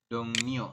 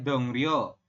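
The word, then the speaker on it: 동료: dongnio seperti ini ya tulisannya adalah dongrio ya ini kan tulisannya dong ro tetapi kita membacanya adalah dongnio ini ya dongnio teman-teman kenapa sem karena ada yang di akhir ketemu dengan R maka R berubah bunyi menjadi huruf menjadi huruf n seperti itu ini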